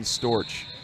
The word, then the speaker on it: Storch: the a layer so we'll say Stefan Storch because it's spelled like porch but here we are